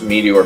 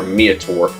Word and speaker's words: meteor: Kind of like how I would always get on my friend's case with saying he would pronounce Meteor Meator.